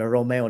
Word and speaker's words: Romeo: It's my name, last name Romeo, not Romeo, please.